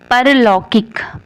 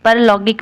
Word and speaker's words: पारलौकिक: परलौकिक। परलौकिक नहीं, पारलौकिक।